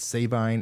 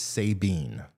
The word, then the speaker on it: Sabine: is an accident and savine is Sabine okay I'm gonna try